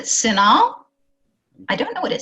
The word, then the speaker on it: CINAHL: Well, I pronounce it CINAHL.